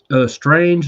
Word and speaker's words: Straenge: Strange Like Me, but it's spelled STRAENGE. So you add it STRAENGE.